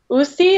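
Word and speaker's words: Uusi: I think they're pronounced Usi. It's like U-U-S-I, and they do a couple different tarot decks.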